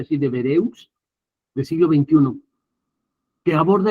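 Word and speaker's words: Devereux: George deb de vereus se dice así se pronuncia así de vereus del siglo XXI que aborda el tema a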